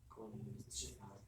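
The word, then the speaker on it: こんにちは: 곤니치와, konnichiwa, 곤니치하. konnichiwa, 저녁 인사 곤방와. konbanwa, 스펠링 곤방하.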